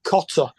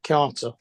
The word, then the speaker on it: cotter: No, Cotter, not Carter. Cotter, Cotter. as in welcome Cotter. back Cotter. Cotter. I know it's spelt differently, but it's like welcome back Cotter. That's what it sounds like.